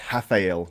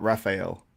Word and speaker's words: Rafael: Because Milos Sarcev, I heard him say recently, but it's Rafael, not Raphael. Yes, it's Rafael.